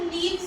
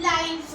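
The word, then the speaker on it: lives: है कॉन्वर्सेशन ठीक है अबाउट आवर लीव्स नहीं आवर लाइफ्स अच्छा इसको आर भी बोलते हैं या आवर्स ही बोलते हैं। लाइव्स होता है।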